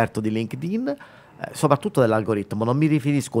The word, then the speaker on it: LinkedIn: prima di tutto che non si dice LinkedIn Ecco già questo eh Com'è che è LinkedIn LinkedIn Ecco quindi già se